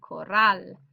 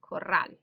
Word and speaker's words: corral: Another example would be corral. You can hear the stresses here, corral.